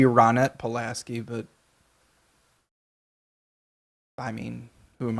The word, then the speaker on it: Ronette Pulaski: face her name was hernit Pulaski A desperate call that would Echo throughout an interesting pronunciation supposed to be Ronette Pulaski but I mean who